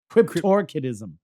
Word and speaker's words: cryptorchidism: say it again Mikey crypto ctis crypto crypto cryptorchidism crypto crypto yeah cryptorchidism so the cryptorchidism would